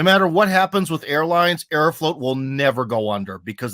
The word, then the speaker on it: Aeroflot: up I thought it's aeroflot uh dude it's it it's it depends on your pronunciation but I think that Arrow float sounds nicer okay but it is written f-l-o-t in Russian yeah okay uh so